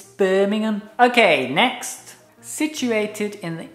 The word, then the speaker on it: Birmingham: Repeat, Birmingham. Birmingham. Birmingham. Birmingham. Yeah, some Americans say Birmingham. Oh no!